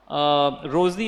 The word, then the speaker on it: Rosie: Rosie or Rousey, am I pronouncing? Rosie, because the spelling is a little different.